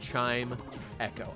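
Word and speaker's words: Chimecho: that's not allowed not in trumps America it's pronounced chime Echo I I know I figured it out I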